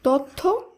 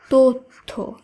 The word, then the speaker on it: তথ্য: সত্য কন্যা নয় কন্যা তথ্য এটা ভুল উচ্চারিত শব্দ এর শুদ্ধ উচ্চারণ হবে তথ্য এইভাবেই অধ্বনির পর জ